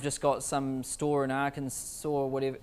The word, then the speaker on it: Arkansas: got some store in arkansas or whatever how do you say that state arkansas so i said it right so doesn't it end with an s i don't get that